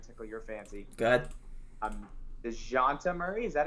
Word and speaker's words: Dejounte: DeJounte Murray, is that how you pronounce his first Yep, name? DeJounte.